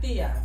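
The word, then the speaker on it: tía: Thea.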